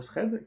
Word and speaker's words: thread: traitement, un fil d'exécution, thread en anglais, hein, thread si on veut essayer de le prononcer comme il faut, qui s'occupe de lire